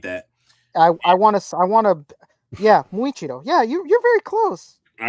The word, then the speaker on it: Muichiro: And she dressed up as Morichio.